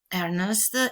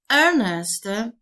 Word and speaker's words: Ernest: worthing and arjuna moncrief ernest written like this with e r n s e s t has got the same sound the same pronunciation as earnest e-a-r-n-e-s-t which means